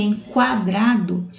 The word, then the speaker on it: quadrado: observar quadrado e querida vejam que enquadrado eu escuto o som do o já em querida eu